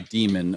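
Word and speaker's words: daemon: If you say Damon, I hate you and don't ever talk to me. Um Demon. They decided to spell it the old English way back in the '60s and '70s when they invented it.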